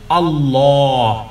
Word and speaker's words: আল্লাহ: বিরব্বিন, যেমন নাকি আলিফ লাম আল্লাহ শব্দের উপরে যখন জবর কিংবা পেশ থাকে তখন আল্লাহ বলতে পারবেন না, কি বলতে হবে? আল্লাহ। একেবারে মুখটা ভরে বলবেন আল্লাহ, আল্লাহ আল্লাহ আল্লাহ আল্লাহ না। এই পাতলা আল্লাহ আল্লাহ এই শব্দটা উচ্চারণ সঠিক নয়, বরং আল্লাহ নয়, বরং কি হবে? আল্লাহ। মুখটাকে গোল করবেন আল্লাহ, কখনো আর আল্লাহ বলবেন না।